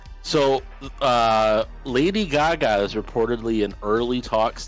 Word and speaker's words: Gaga: So, Lady Gaga is reportedly in early talks to play Harley Quinn in the Joker sequel. I'd be okay with that. Thoughts? Also pronounce her name properly. It's Gaga. Gaga. Gaga.